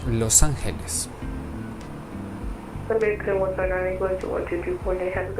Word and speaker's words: Los Angeles: Correctly pronounced in Spanish, Los Angeles.